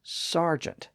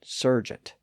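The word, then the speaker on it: sergeant: word Sargeant of course it's spelled s e r g a n t but it's pronounced sgent not Sergent again it was affected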